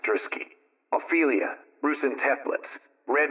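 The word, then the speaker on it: Druschki: are radiance FR Carl druski that's D us cki anounced druski ailia Ru and templets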